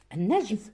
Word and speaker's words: النجم: النجم لام شمسية تكتب ولا تقرأ.